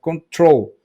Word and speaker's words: control: Porque a acentuação dele é dada na sílaba final. Control, control, control. Aí a sílaba forte está no troll.